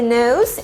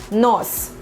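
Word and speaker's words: нос: And now let's go down our face and we'll see the nose, and in Russian it's gonna sound like nos, nos.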